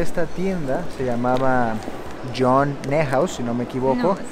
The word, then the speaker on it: Neuhaus: ¿Cómo se pronuncia? Neuhaus.